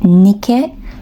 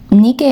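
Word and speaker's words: Νίκη: I think that you would pronounce her name Nike in ancient Greek.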